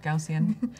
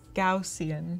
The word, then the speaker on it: Gaussian: Gaussian. I never know how to say that. I looked up the pronunciation on YouTube, and it's like it's Gaussian, Really?